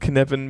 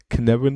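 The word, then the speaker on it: Cynefin: Und geschrieben wird Kinevin mit C-Y-N-E-F-I-N. Die Waliser haben sehr lustige Ausspracheregeln, deswegen kommt da dann am Ende Kinevin raus.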